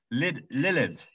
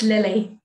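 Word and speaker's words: Lilidh: Lilith. It's Lily. Ah, Lily. Of course it is. Lily like the flower. Yeah, Welcome, a lot Lily. easier. It's a Scottish spelling, but it's still pronounced Lily.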